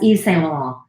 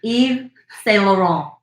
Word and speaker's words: Yves Saint Laurent: I to this day, I don't know how to pronounce them. Like what? YSL. That's Yves Saint Laurent. Excuse me? Yves Saint Laurent.